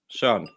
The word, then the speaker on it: Søren: Does that apparently Matt said that, can you help me pronounce Soren? I thought that was right. Søren. Son. You have to eat the rest of the word.